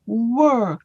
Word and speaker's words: were: And then for the word were, look at my lips. My lips didn't spread.